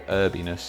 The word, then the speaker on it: herbiness: subtle herbiness to it, or herbiness if you're in the America and you don't pronounce the H that's clearly there.